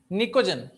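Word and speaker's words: Pnictogen: तो इसमें P silent रहेगा, निकोजन बोलते हैं।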